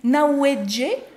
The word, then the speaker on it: Hnawejë: Alors ça s'écrit Nawedje, mais ça se lit Nawed.